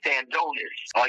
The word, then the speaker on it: Stanionis: I know you're trying to pronounce that new name. It's Stanionis.